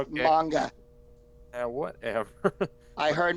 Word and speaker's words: manga: manga, It's pronounced okay. manga. Whatever. I heard manja.